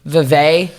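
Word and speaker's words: Vevay: near the area of I think it's pronounced Vive Indiana and this sits yeah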